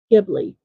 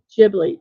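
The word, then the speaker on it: Ghibli: and president of Studio gibli or jibli depending on how you pronounce it Suzuki is renowned as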